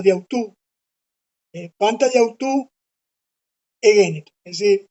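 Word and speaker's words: διʼ αὐτοῦ: Esto se pronuncia pegado, diautú.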